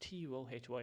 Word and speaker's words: Tuohy: Or Tuhi. Tuohy. Yeah, it's just Tuohy.